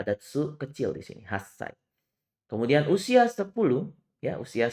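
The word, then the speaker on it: はっさい: Kemudian usia 8 tahun itu bukan hachi, 8 hachi, tapi bukan hachisai. Tapi hasai. Sama seperti angka 1 ya, ada tsu kecil di sini, hasai.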